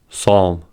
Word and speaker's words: psalm: Secondly, the P is silent in the following words: core, coup, cupboard, raspberry, receipt, pseudonym, psalm.